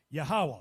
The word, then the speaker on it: Yahawah: was I not known the name Jehovah translated in the lwan kadash is pronounced yahawah you know I did